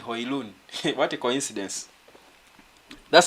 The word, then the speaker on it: Højlund: But it's Højlund. Rasmus Højlund. That's the right pronunciation in Denmark.